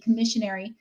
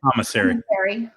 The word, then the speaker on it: commissary: So Bridget took it upon herself to go to, in this case, ABC Commissionary. How do you say it? Commissary.